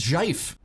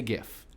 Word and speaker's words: GIF: Listen to how I pronounce zhaif. I say GIF. Maybe you say GIF. That is just fine.